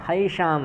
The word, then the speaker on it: हैषां: पतन्ति पितरो हैषां, हैषां ऐसे ऋषिकेश शब्द था, वैसे ही हैषाम है। ठीक। इसमें हा और या मिला हुआ है, हैषाम ऐसा है। ठीक। और मूर्धन्य षकार भी जुड़ा हुआ है, यानी कुल मिलाकर